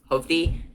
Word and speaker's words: Hovde: complete and total endorsement I know it's pronounced hovde hovi but I've always pronounced it HOV day because that's just how my culture has done it but this is good